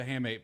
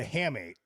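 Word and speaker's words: hamate: Can you ask about what the hammate bone?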